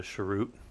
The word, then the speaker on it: chroot: And um or some people call it a sharut. I've always called it a chroot. I don't care how you say it. It's not a real word, so you can say it however you want.